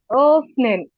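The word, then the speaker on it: öffnen: ইয়া often ওফনেন ওফনেন জি ও বলে একটু হালকা টান দিবেন এবং প্রেসার দিয়ে বলার চেষ্টা করবেন একদম ঠোট গোল করে ওফনেন উম আরেকটু প্রেশার দিতে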